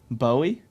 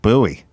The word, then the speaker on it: Bowie: buy that's him Bowie yeah but he pronounced it buoy yeah buoy cun yeah